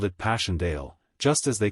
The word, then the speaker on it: Passchendaele: Marchant, it was so strange to hear you call it Passchendaele." "Why, if I may ask?" "Because that's the way I pronounce it to myself. But I looked it up and it's more like Passchendaele."